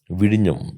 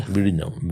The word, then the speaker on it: Vizhinjam: Vidium. Yeah, Vidyam. Whenever you can pronounce Vidinam properly, then you can do anything. That is the first comment of the former CEO of Vidam.